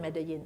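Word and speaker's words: Medellín: is medin and medin is how do you pronounce it medin uh but the they call it medin right so I'm just following the col Colombians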